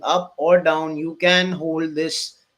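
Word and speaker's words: HODL: of people believe in it is called the hold culture but it is spelled h o d l right Now, so Bitcoin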